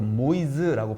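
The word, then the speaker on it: Moïse: 옛날 사람들은 모세를 모이세라고 불렀던 겁니다. 어허. 예. 그리고 또 유럽에서는 프랑스는 또 모이즈라고 발음하기도 해요.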